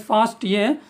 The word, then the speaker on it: FASTA: So it should be pronounced as FASTA because it stands for fast all.